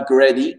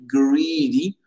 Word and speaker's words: greedy: Greedy, attention Nassima, bien allongé le greedy, pas greedy, greedy.